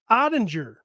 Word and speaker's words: Ottinger: Is it Ottinger or is it Ottinger? I never know. Ottinger. Hard G. Yeah. Is that a soft G? No, that they're opposite of what you think they are. G is a hard G, Yeah.